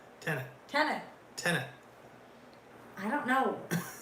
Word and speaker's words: Tenet: I did say tenant. Tenant. Tenet.